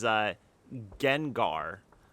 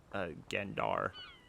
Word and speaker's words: Gengar: There's Gengar. I thought it was Gendar. I guess you could pronounce that as Genjar.